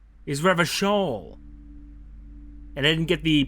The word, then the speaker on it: Revachol: Oh, I've been pronouncing it all wrong. Is Revachol.